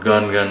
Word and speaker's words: Ngungun: कसैले यो भन्छ, कसैले यो भन्छ, कसैले माउन्ट नुनु भन्दो रहेछ, कसैले माउन्ट गनगन भन्दो रहेछ.